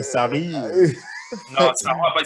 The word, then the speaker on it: Sarri: Genre, par exemple, genre, si si je tu nommes prononce pas bien, Saro à la place de Sarri.